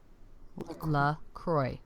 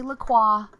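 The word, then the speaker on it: LaCroix: La Croy. Laqua. I don't say Laqua. I say Lacroy.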